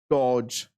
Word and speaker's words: dodge: The given word is dodge. This D is silent here. This the middle one add panic quite simple the police and escaped.